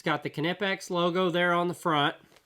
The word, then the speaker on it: Knipex: that solves this question check that out it's pronounced canipex so there you go once and for all